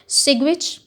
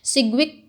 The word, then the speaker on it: सिग्विच: इसके इंट्रोडक्शन में हम ये बताते हैं कि दो साइंटिस्ट थे, एक का नाम था सिग्विच, डी जो है वो साइलेंट है, सिग्विक भी इसे कह सकते हैं आप, सिग्विक एंड पावल।